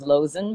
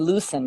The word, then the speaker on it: Loosen: the wine's called Loosen Up because his name is Lozen, but people would say Ernie Loosen because it's spelled like loosen.